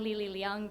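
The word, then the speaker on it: Li Li Leung: So Jay, you get a 10-0 for pronouncing my name correctly. So as Jay mentioned, I'm Lili Leung, President and CEO of USA Gymnastics, and on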